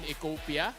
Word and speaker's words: Ecopia: for the likes ofos sir how do you pronounce itala this one is Bridgestone ecopia ecopia yeah so for economy fuel economy longer